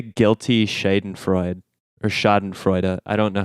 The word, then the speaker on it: Schadenfreude: it's like a guilty shite and Freud or schadenfreude I don't know how you pronounce it exactly schadenfreude thank you a cookie our resident German expert